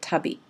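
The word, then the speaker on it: 旅: When it's on its own, you pronounce it tabi.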